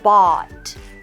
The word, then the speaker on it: bought: different our first word bot okay it's similar to the word fought o u g HT but we don't pronounce the g h right so we go bot b a w sound